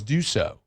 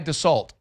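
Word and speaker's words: Dussault: how do you say your last name? It's Duso. Oh, D-U-S-S-A-U-L-T? Okay. I'm here for it. How many people do you think call that guy Dassault?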